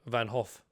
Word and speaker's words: van Gogh: both wrong whatever it's pronounced like you're saying hoof like van hoof don't pronounce it oh